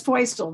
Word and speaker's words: Feustel: All right, so Feustel here, and it is Feustel, rhymes with.